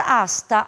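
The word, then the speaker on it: hasta: laat da mesma maneira como em português o h não tem som então ele aparece somente na forma escrita mas não na fonética a palavra asta asta é uma preposição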